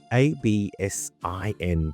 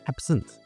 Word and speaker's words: absinthe: what is it spelled a b s i n t h e. In French, it's actually pronounced absin. So, you don't pronounce the he at the end. It's just absent.